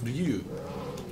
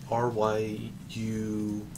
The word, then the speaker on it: Ryu: Because in Japan, it's Ryu. But, Wait, how is it? How do you say dragon? Ryu. R-Y-U. And I think it's like with a longer U.